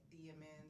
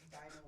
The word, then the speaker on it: Dymond: They be like Dymond, and I'm like, oh, it's Diamond with a fucking Y.